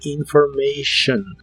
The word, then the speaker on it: information: que significan información personal la t de information se pronuncia como si fuera una sh personal information personal information y usaremos